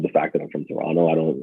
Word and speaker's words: Toronto: us they pronounce because in canada we don't pronounce like the second cheese in most of our statements so they're like toronto oh you're from toronto and i'm like you know we call it toronto but sure oh my gosh canadians